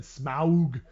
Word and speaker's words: Smaug: I don't know I know that Tolkien said Smaug or whatever but why did you say smart